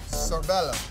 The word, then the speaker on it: Sorbello: Her last name is Sorbello. Yes. Spell it.